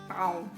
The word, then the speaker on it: pão: So the Portuguese word pau, I cannot pronounce that correctly because I'm Japanese, and of course in 16th century Japanese people were not able to pronounce pao correctly. Anyway, pao pao pao pao